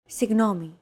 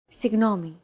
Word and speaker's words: Συγγνώμη: Συγγνώμη. This character isn't pronounced using an English G sound at all. Γ. It's like a very soft, continuous, and loosely held G, almost as if you're gargling, but don't make it sound too throaty.